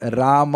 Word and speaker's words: राम: मतलब राम है। हम लोग राम बोलते हैं। राम विल बी म विद हलंत।